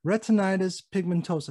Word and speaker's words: retinitis pigmentosa: you know more to the people watching so retinitis pigmentosa is that correct you got it you got it i always worry about not pronouncing that correctly so tell us about what